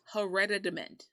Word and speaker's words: hereditament: her rad did it it's a t but it sounds like a d and doesn't sound like hereditary yeah hereditament right and what it's